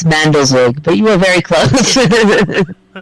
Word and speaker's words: Mandelzweig: Yes, and to pronounce it, it's Mandelzweig, but you were very close.